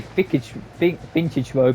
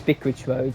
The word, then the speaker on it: Vicarage Road: I did say Vicage Vintage Road, but it is Vicorage Road.